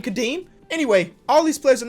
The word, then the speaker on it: Kadeem: one guy that always comments me pronouncing his name wrong cadine are you happy Kadeem Kadeem Kadeem anyway all these players are not gonna end